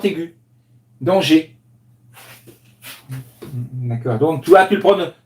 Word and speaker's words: danger: G comme si c'était un et accent aigu danger donc toi tu le prônes tu sais tout tu disais toujours danseur danseur dans ces dangers et oui une erreur qui est revenue quatre